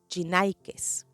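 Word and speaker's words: γυνή: las llama mujercillas ahora en el griego la palabra mujer se se pronuncia gines pero Pablo a estas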